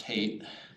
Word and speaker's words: Height: Pronounced hate. Height Farm.